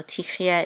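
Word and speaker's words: תחיו: And this is going to be silent, so we're going to say tich, tich, and this is a yud with a sagol, and this is silent, yeah, tich, yeah.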